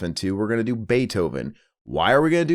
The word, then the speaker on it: Beethoven: Beethoven. I was a kid. You pronounce it wrong, baby. It's Beethoven.